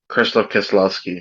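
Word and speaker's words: Krzysztof Kieślowski: Chris Krzysztof is how I'm gonna pronounce it, Kieslowski. Yes. Krzysztof Kieslowski, yeah.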